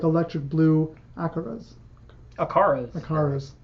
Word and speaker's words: acara: fish like electric blue acaras? Acaras. Acaras. My pronunciation was wrong. You're thinking of the car. Acuras.